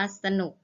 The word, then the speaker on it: สนุก: อ่าน ว่า สะ นัก เรียน จะ เห็น ว่า คำ คำ ที่ คุณ ครู อ่าน เมื่อ กี้ นะ คะ ออก เสียง อะ หมด เลย นะ คะ คะ ด้าน หน้า นะ คะ แต่ ออก อะ ครึ่ง เสียง นะ คะ ออก เสียง อะ กึ่ง เสียง แต่ ไม่ มี รูป